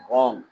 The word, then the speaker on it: wrong: In wrist and wrong, W is silent.